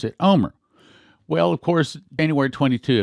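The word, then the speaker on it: Olmert: a RT o L M ERT but you pronounce it Omer well of course anywhere 22 of 2006 this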